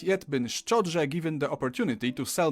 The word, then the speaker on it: szczodrze: I have not yet been szczodrze given the opportunity to sell myself out.